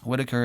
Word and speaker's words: Whitacre: mark Whitacre calm and it's whitaker is spelled whi tac re mark thank you so